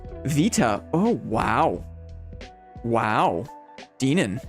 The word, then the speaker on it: beta: extraction itch until now technically beta would be pronounced Vita oh oh wow wow